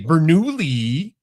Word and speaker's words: Bernoulli: Yeah, it was, and it's so fun to say Bernoulli, like that's how I say his name.